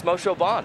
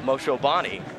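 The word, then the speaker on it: Moshobane: pronunciations of their name we're talking to tsumi moshobon and he's telling us it's moshevon not moshobani that first couple years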